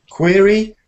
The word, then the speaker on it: query: that that's a query query does not rhyme with very nor does Fury what is Fury everybody Furious